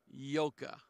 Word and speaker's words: yoga: uh if if you if you are practicing yoka okay yoka because it rhymes with choca okay now uh it it